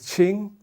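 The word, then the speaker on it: 青: It's pronounced as qing, and this pronounced as lü.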